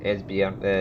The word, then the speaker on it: Esbjerg: You don't pronounce the G in it.